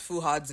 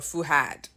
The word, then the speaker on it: Fuad: started off with um how do you pronounce fuad's name fuad or fuhad you know the Nigerian way how do you pronounce